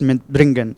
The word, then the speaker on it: mitbringen: Separable verb, always when we are pronouncing a separable verb, especially when it is together, always the stress is on the prefix and not on the verb.